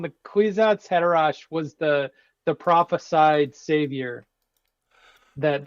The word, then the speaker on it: Haderach: The Kwisatz Haderach was the prophesied savior that they thought that the whole series is about.